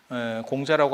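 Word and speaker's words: 孔子: 그런데 김용옥 선생이 공자라고 하지 말고 콩쯔라고 불러라, 중국 발음으로 불러줘라 라고 했을 때 철학가 선생님들이 지랄하고 자빠졌네 이런 반응이 나왔어. 이런 반응이 나왔어. 그게 굉장히 놀랐거든. 공자 발음이 뭔지 모릅니다. 공자 발음이 뭔지 몰라. 그런데 확실한 건 지금 현대의 중국 발음보다 우리 한자 발음 공자가 더 오래된 발음이에요.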